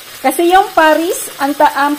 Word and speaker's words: Paris: pang i-pronounce po Basahin at i-pronounce kasi yung Paris ang pronounciation dito niyan is par Hindi po nila